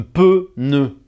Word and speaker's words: pneu: n'appelle pas ça un pneu, nous dans le sud on appelle ça un "peu neu", deux syllabes "peu neu" donc ne soyez pas